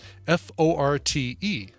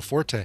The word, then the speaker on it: forte: do you pronounce um f-o-r-t-e oh uh forte yeah well like when it's the last name of will forte yeah um but the uh the original pronunciation is just fort fort oh and forte